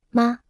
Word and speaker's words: 吗: 吗？ Se pronuncia con el tono neutro.